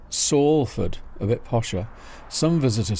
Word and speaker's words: Salford: And how is Salford pronounced? Well, S-A-L-F-O-R-D is how it's spelt. The first symbol sounds like the Spanish word for sun, sol, but in fact it refers to the willow tree, or sallow.